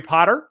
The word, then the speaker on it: Potter: So my name is Potter. Yes, it rhymes with the boy wizard, host of the Social